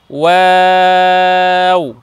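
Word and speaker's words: و: দুইটা বর্ণে সদাসর্বদাই ঠোঁট গোল করতে হবে, বর্ণ উচ্চারণ করার সময় এটা মাথায় রাখতে হবে, যখন আমরা বর্ণ উচ্চারণ করব তখন নুন, দেখুন নুন এবং ওয়াও, নুনকে উচ্চারণ করব তখন আমরা ঠোঁট গোল করব নুন ওয়াও।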